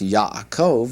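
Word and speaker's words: יעקב: By the way, that particular word is pronounced Yakov and is the name for Jacob in Hebrew.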